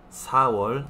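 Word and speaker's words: 사월: Si recuerdan, los números chino coreano, il, i, sam, sa y así, ¿sí? Enero, irol, febrero, iwol, marzo, Samuel, abril, Sawol, así en orden.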